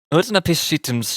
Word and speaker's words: Utnapishtim: No, I just need to know how it's pronounced, that's all. Utnapishtim's ship.